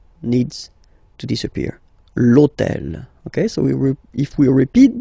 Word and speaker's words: l'hôtel: starts with H, but remember that in French we don't pronounce H, okay, so basically the first sound of the word is the vowel O, okay, so for the